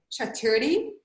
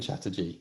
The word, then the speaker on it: Chatterjee: pronounce his name right bonjour chaturdi wrong and chatterjee very close thank you and i